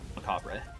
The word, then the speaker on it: macabre: we derive the word macabre or macabre is the French pronunciation of it let's see so morbid